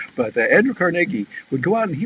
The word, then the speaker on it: Carnegie: century ago andrew carnegie people call him sometimes andrew carnegie well it was actually carnegie because he was scottish and that's the way they pronounced it but andrew carnegie would go out and